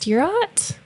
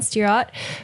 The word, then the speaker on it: Stirratt: Today, Lucas interviews John, I think it's pronounced Stirratt, John Stirratt, for a preview of Sonic Sleepover at Otyokwa.